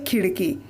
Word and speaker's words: खिड़की: तो देखो, खिड़की में से ड़ के नीचे ये बिंदी लगाई गई है, मतलब नुक्ता लगाया गया है, इसलिए शुद्ध उच्चारण हुआ खिड़की। अगर हम ड़ के नीचे से नुक्ता हटा देते हैं तो उच्चारण कैसे हो जाएगा? खिड़की। ये गलत उच्चारण हुआ और शब्द भी गलत हुआ।